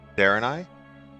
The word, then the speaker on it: Draenei: The kingdom looks like Draenei, which is Darenai, which is close to the World of Warcraft Draenei.